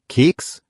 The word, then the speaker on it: Keks: Kurzer Aussprachehack, üb mal Keks und Hexe. Das KS knackig sprechen. Dann klingt auf den Keks gehen klarer.